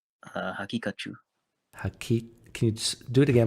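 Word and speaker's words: Haqiqatjou: Hakikachu.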